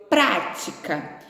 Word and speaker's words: prática: irmão pratica esporte percebam prática prática é uma palavra proparoxítona o que que pratica é uma palavra proparoxítona o que é uma palavra proparoxítona é aquela em que a antepenúltima sílaba nós contamos de trás para frente não é isso a antepenúltima sílaba é a sílaba tônica toda palavrinha proparoxítona ela recebe acento então a prática de